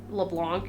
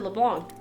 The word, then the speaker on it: LeBlanc: I always say it wrong because it's not meant to be like here, LeBlanc, you know? It's French, whatever.